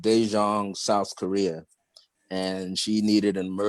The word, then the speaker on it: Daejeon: My day yesterday started off with one of my spiritual daughters, who is, I think it's pronounced Daejeon, South Korea, and she needed an emergency reading about something.